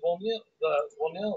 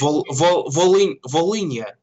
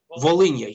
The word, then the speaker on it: Volhynia: which article, that they said that basically the Volnila massacre. How do you say it? Volnila massacre. Am I pronouncing it right? Volnila massacre. Actually, Anyways, Volhynia. Yeah, Volhynia.